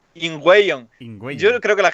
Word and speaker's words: Ingweion: Tenemos aquí a Bari de su segundo nombre impronunciable en Twitter, pero que lo ¿Qué podéis... va? Ingüeyon no es tan difícil. ¿Cómo, por favor? Ingüeyon. Ingüeyon.